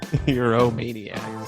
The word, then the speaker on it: Euro MMA Maniacs: And you still pronounce the name wrong. Euro Maniacs. Just Euro Maniacs. The second M is quiet.